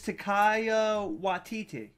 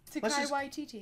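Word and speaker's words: Taika Waititi: His name is Takaya Waititi. Waititi. Takei Waititi? No, that's George Takei. What was it? Let's just pronounce it our own way, Heather. Watai Takawati. Karate. Takai Karate. Takai Waititi. Waititi. Takai Waititi.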